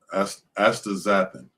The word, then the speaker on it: astaxanthin: funny it's a funny spelling word but it's pronounced uh astaxanthin so there's a chemical called astaxanthin that they